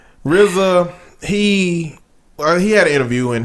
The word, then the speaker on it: RZA: It's RZA. Wu-Tang Clan ain't nothing to fuck with. Yeah. So RZA, he done said some stuff, man. That don't make no damn. Like, RZA, he had an interview and he told a